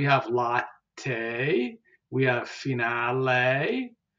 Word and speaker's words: finale: Te, we have finale, and you can hear that E at the end, which is pronounced as A.